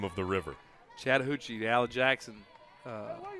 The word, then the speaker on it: Chattahoochee: But I didn't want to mispronounce the name of the river. Chattahoochee, the Al Jackson What do you say, 5?